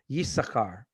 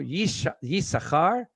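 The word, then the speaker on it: יששכר: Yisachar. Yisachar, when he's mentioned in the Torah, it's double shin or double sin, but the second shin is not pronounced.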